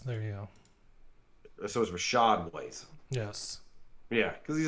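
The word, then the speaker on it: Rachaad: white is that the I think it's her shod Rashad okay it might be a Rasheed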